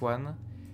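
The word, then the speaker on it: aux: Now pay attention, this one and this one, they have exactly the same pronunciation. O, O. No difference.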